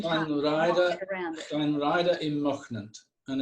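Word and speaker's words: Llanrhaeadr-ym-Mochnant: Llanrhaeadr y Mochnant, and it's very famous for a waterfall.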